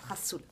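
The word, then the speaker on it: rhassoul: Enfin, ça s'écrit Gazoul, mais ça se prononce rassoul.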